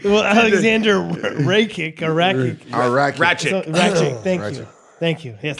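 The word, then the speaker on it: Rakić: Ratchet.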